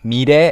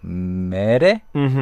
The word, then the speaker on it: 미래: And here I think she pronounced 미래 as a little bit like 메레, but 미래. 미래. Please make it clear.